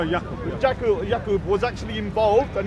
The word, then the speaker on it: Yakub: Now, both Steve, yeah, and also Yakub, so far mispronounced. No, Yakub.